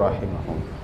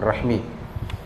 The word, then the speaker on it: rahim: yang wajib untuk menyambungkannya bacanya Rahim ya bukan Rahmi sudah kita bahas itu kata Imam samani kalau dibaca Rahmi itu seperti maknanya alat kelamin perempuan jadi betul rahim silaturahim